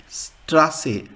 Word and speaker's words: Straße: It's pronounced like kiss, hiss in English. So example in Germany, Straße.